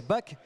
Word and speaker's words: Bach: On va on va prononcer on va prononcer BAC.